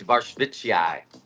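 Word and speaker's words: warscewiczii: It's Ukrainian, and it's Varsvichii. Or Varsvichii.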